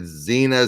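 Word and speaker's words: Tzena: a t ze na I'm assuming the T is silent so I'm saying that Xena Xena Xena Xena yep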